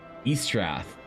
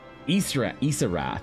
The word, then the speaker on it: Isarath: Not Eastrath. Isarath. You were saying it correctly before.